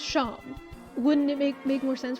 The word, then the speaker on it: Seam: Despite the fact that what they’re actually saying would sound like “The name’s Shawm, pronounced Shawm” Wouldn’t it make more sense for them to say their name is spelt like “seam”?